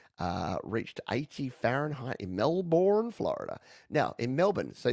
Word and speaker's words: Melbourne: pronounce Melbourne in Australia here's the key just forget everything after the B and go straight to the end Melbourne straight to the end